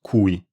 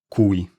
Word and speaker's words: cui: The relative pronoun is spelled with a C, and it is pronounced cui. I'll say the difference, I'll say both of them again for the difference. Qui, cui.